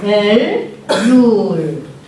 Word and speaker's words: 엘룰: 이게 엘룰. 이게 우 발음입니다. 우. 엘룰.